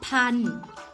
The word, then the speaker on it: พันธุ์: ค่ะ อ่ะ ก็ เพราะ พันธุ์ อ่าน ว่า เพราะ พัน ตัว ทอ ธง ตลับ อุ การันต์ มี สระ อุ เป็น ตัว ประกอบ ค่ะ นี้ หา เรื่อง